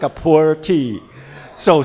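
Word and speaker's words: Pu'er: it is coming up in typical chinese pronunciation mandarin pronunciation called poor poor tea but with your typical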